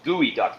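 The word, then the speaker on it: geoduck: man horrible that's bad it is pronounced gooey duck though right yeah warning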